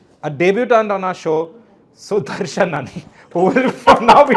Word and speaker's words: Sudarshanan: And to do that, I've got George Binoy, Yash, and a debutant on our show, Sudarshanan, who will from now be known as Suds.